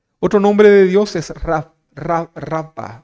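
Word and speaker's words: Rapha: Otro nombre de Dios es Rafa o Rafa. ¿Sí? Rafa, se escribe con PH en algunos casos, y significa el Señor que sana.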